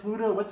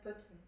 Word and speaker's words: Putin: Vladimir Pluta. How do you say his name? Vladimir Putin.